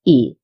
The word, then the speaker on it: y: and then we write the letter Y which means and and has the pronunciation of E.